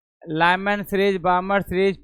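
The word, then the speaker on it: Balmer: हाय रे लमन सरीज बमर series प fund bracket पासन हा वही तो बोलता तो सरनाम पढ़ना चाहिए यह नियम बामर सरीज स्पेलिंग क्या लिखेगा बी ए एल एम ई आर L silent होता है बी ए एल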